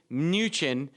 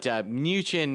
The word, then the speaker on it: Mnuchin: But Mnuchin is going to be a fun one to say for a while. Gotta love silent letters in the Treasury Secretary.